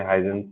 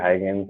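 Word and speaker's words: Huygens: हम लोग स्टार्ट करते हैं अब इस चैप्टर को, जिसमें सबसे पहले हाइजेंस नाम के जो साइंटिस्ट थे, ठीक है, इसको प्रोनाउंसिएशन कुछ और भी है, हाइगेंस हाइगेंस करके है, हम लोग थोड़ा कंफर्टेबल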